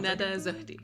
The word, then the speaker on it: Nada Zohdy: I'm sitting here at the OpenGov Hub with Nada Zohdy. Is that a good enough pronunciation? 95%. 95%? Nada Zohdy, yeah.